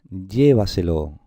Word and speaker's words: llévaselo: Y a ver esta palabra, llévaselo. A ver, vemos por aquí una tilde, por lo tanto, esta es la sílaba tónica, está clarísimo.